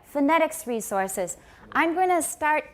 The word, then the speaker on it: phonetics: is phonetics it's not phonetics because is the first syllable stressed phonetics no many unstressed syllables in english are pronounced with an upside down e which is called a schwa it's also called a